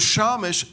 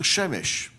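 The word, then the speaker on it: שמש: But the word Shamash, Shin Mem Shin, can also be pronounced Shemesh.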